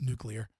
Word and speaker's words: nuclear: makes sense um yeah my chat is giving me for the way I pronounce nuclear oh yeah know I had your chat I said like nucular whatever you that's how we pronounce it in Virginia yeah um my chat's